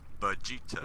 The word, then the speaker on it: Vegeta: Vegeta. Yeah, I thought so. I remember I used to say it Vegeta or Vegeta, and then you were like, no, it's Vegeta. I'm like, oh. Vegeta, Vegeta, vagina, same thing.